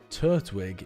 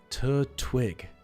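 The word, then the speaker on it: Turtwig: It just seems really weird to not put to not attach the t to the first syllable. Tur twig. It's like a wig you put on a turt.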